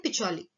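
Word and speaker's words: Pacioli: इसको इंग्लिश में प्रोनाउंस करते हैं पिचोली, राइट?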